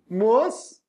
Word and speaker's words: mosquito: Na pronúncia, mosquito. Não tem o som do U, então não é ditongo.